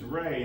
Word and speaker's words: Ray: I tell them my name is Ray, and it's like, oh, like ray of light, or ray of sunshine. And as they're saying this, in my head, I'm just hearing Ray, which rhymes with gay.